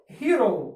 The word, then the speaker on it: hero: От оце слово читається дещо складно. Hero. Чуєте? Буква Х тут нагадує більше г. Ось у таких випадках саме звук ги й може з'являтися в англійській, коли ми використовуємо літеру H.